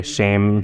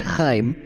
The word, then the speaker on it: Chaim: And we also have your Rabbi Shame Silverstein, with us here today. Did I pronounce that right? It's understandable. It's pronounced Chaim.